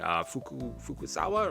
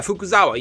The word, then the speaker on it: Fukuzawa: Fukusawa, right? That's his name. Did it say his name here? Yeah, Fukuzawa.